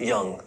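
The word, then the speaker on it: Jung: Some people pronounce it young.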